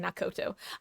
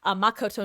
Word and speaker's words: Makoto: So you the first game you play as the super high school level lucky student Nak I almost said Nakoto Makoto Naagi who is selected